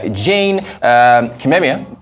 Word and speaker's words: Jane Kimemia: Jane Kimemia, did I pronounce that right?